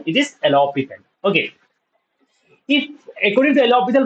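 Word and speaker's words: L'Hôpital: A few people call it as alopital rule and the correct pronunciation is alopical rule. Okay. It is not L hospital it is alopital.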